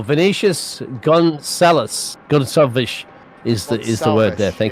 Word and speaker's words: Gonçalves: Apparently, how you pronounce it? Yeah, Portuguese style. Vinicius Gonçalves is the word there.